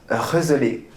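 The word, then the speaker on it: gezellig: Non, alors ça s'écrit Gezelig et ça se prononce Reuzeler.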